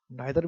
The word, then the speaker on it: neither: इसको कुछ लोग ईदर भी पढ़ते हैं और उसको कुछ लोग नीदर भी पढ़ते हैं, दोनों प्रोनाउंसिएशन जो वैलिड है। आइदर भी ठीक है, ईदर भी ठीक है, नाइदर भी ठीक है और नीदर भी ठीक है, दोनों जो है प्रोनाउंसिएशन बिल्कुल ठीक है, परफेक्ट है, अच्छा है,